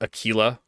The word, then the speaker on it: Aquila: So the Q, which is pronounced qua, the QU sound, which is pronounced qua, Aquila, is pronounced Aquila.